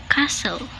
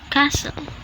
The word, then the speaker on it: castle: wanted wanted rule number two use silent T when T is in between consonant sounds so the pattern is consonant sound plus t plus consonant sound examples are castle castle mortgage mortgage exactly exactly